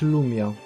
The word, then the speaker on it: Rumia: W zasadzie Rumia też powinno się wymawiać Lumia. Bo jest yokai, które produkuje ciemność wokół siebie. Lum jak lumen, czyli z łaciny światło. Ironia, ale niech im będzie. No to wolę Rumia, bo Rumia to miasto